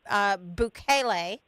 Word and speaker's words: Bukele: Yes, and you have been a huge supporter of President Bukele. Did I say that right? Correct. Yes, just so you know, you pronounced that perfectly as well.